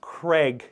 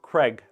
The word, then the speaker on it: Craig: In the US, you pronounce Craig, yes, but in Scotland it's Crag.